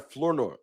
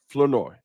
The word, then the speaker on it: Flournoy: And I know how to say it now. It's Ryan Flournoy. Flournoy. Not Flournoy. Flournoy.